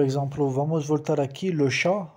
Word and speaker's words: chat: Por exemplo, vamos voltar aqui, le chat, o gato. A palavra T não se pronuncia.